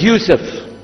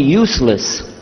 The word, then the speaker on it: Yusuf: la my name is Yousef can you say Yousef let me say Yousef you're very good I wish you teach my my wife she keeps mispronouncing it she calls me useless alhamdulillah now how many